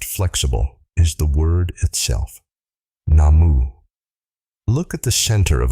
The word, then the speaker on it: Namu: The characters read Namu Myoho Renge Kyo, not Nam. A viewer named Goji wrote to us directly at a fast pace. He said, "It isn't possible to pronounce the U in Namu, so it becomes Nam."